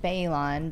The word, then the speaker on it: Bellon: It's Patrick Bayline, but it's spelled Bellon, and we'll put that in the chat.